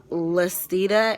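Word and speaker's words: Lysteda: through um but again that medicine was called list EDA and it's ly s te da and I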